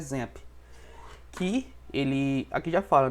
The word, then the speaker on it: XAMPP: Tem esse nome aqui, algumas pessoas falam Champ, mas a pronúncia correta é XAMPP.